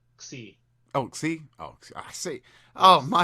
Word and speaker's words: Xi: the next one is she. Oh no, it's pronounced Xi.